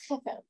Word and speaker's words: Chefer: Yeah, it's actually in Hebrew. It's Chafar.